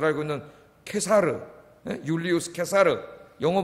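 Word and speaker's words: Caesar: 로마가 유대인들을 상당히 특별히 여러분이 잘 알고 있는 케사르, 율리우스 케사르, 영어 발음으로 하면 시저라 그러죠.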